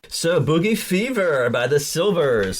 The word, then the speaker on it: Sylvers: So Boogie Fever by the Sylvers. Silver spelled with a Y, Sylver.